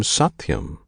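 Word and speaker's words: सत्यम्: This name Satyam consists of 3 syllables, Sat, Ti, Yam.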